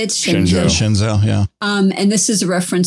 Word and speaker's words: Shenzhou: Shenzhou, yeah.